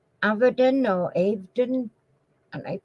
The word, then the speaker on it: Avedon: then it's a v e d o n avadon or evening and I pronounce that I was an artist in what